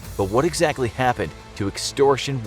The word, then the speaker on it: Extortion 17: But what exactly happened to Extortion 17 (pronounced ONE-SEVEN) to cause it to